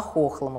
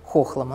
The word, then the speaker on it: Хохлома: Немногие знают, что Хохлома на самом деле не Хохлома, как мы привыкли говорить, а Хохлома, потому что речка Хохломка, село стоит на этой речке, и, соответственно, село тоже Хохлома.